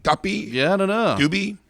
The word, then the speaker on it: duppy: yeah that's suspect uh duppy like dupe how's this spelled how does it spell like a puppy but with a d really okay d-u-p-p-y doopy duppy yeah i don't know